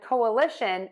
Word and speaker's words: coalition: collision is going to have three beats or three syllables and coalition is going to have four beats or four syllables so let's break these